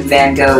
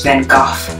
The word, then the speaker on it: Van Gogh: And it's actually not even Van Gogh, it's Van Gogh.